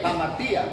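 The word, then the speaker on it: hamartía: Aquí se pronuncia así como se lee, jamartía. La H equivalente a una J.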